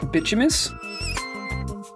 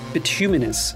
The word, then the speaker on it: bituminous: and Cole I heard so I've always been calling this bimus which you know now that I look at it there's there's letters in here that I'm not pronouncing but I hadn't actually